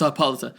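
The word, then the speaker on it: Hippolyta: Luther Martha Kent and queen hipolita hipolita hippolita hi however you pronounce it hipolita it's hipolita okay so so they're returning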